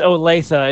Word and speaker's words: Olathe: It's Olathe.